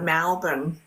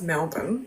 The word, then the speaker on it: Melbourne: They pronounce things different, like Melbourne, they'll be like Malburn. And I'm like, it's Melbourne. But anyway.